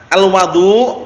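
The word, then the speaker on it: الوَضوء: Ma bacanya gitu ya alwadu kalau di fathah alwadu wau fathah berarti airnya kalau alwudu perbuatannya alwaduu Bil Fathi Alma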